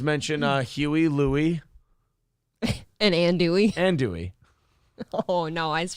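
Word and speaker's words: andouille: uh mark gill says you uh also don't pronounce the l's in andui that well that would be andy it's ann dewey oh is it well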